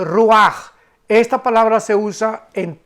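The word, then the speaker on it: רוח: la palabra hebrea ruach, como suena con R de Raúl y CH al final. Pero la CH en el hebreo se pronuncia como una J. Entonces podríamos decir que se pronuncia ruach, con la J, guturalmente ruach.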